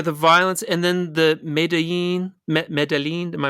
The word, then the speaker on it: Medellín: Yeah, the violence, and then the Medellín. Am I pronouncing that right? Medellín.